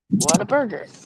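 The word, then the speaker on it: Whataburger: got a water Burger that's actually pronounced the way it's it's written what a burger oh man I thought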